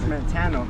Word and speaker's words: Mattano: I hope I'm saying that right. Yo, what's the name of this park? This is Mattano. Ah, I said it right, thank you, right. Mattano.